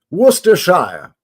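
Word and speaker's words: Worcestershire: there in the UK so wster Worster Shire at least that's how my nan used to say it my mom's mom my nana my n she taught us to say it like that Worster sh sauce like the Earl of Worcester ah okay okay man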